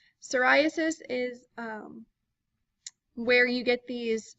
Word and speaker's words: psoriasis: pediculosis next we have psoriasis the P is silent and it's a very tricky spelling so be careful psoriasis is where you get